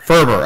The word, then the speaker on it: Faerber: great and it and this is jay Furber Furber okay I was afraid to pronounce it I'm like I'm gonna butcher it